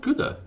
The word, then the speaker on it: Gouda: Is it pronounced Gouda? Gouda in Japanese. I always say Gouda. Yeah, I say Gouda usually too, but since it's an American audience, I was trying to say Gouda, which is the American pronunciation of it.